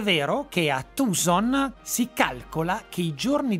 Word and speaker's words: Tucson: Siccome però è una delle città americane con i salari più bassi, i tucsoniani, la pronuncia corretta è Tucson, scherzano dicendo siamo pagati meteorologicamente più che in dollari.